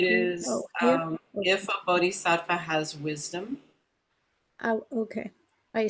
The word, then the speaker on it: bodhisattva: if a bodhisattva has wisdom.